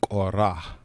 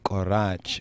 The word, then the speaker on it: Korah: Korach, or really more correctly, Korah. Korah. Though it's spelled Korach, it's not Korach, but it's Korah.